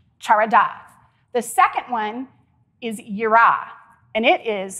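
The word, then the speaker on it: יראה: The second one is yira, and it is spelled Y-I-R-A-H.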